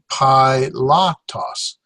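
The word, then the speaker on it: Πιλᾶτος: ha and pilots name there's one two three bowel three syllables PI lock toss so actions here PI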